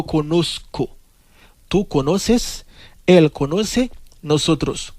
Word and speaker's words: conozco: Pas prononcer Z dans tant que Z en français, mais sinon c'est un couillon S. C'est yo conozco.